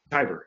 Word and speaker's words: Tibor: uh Sean Tor tyor Tyber yeah rhymes with tiger nice very well and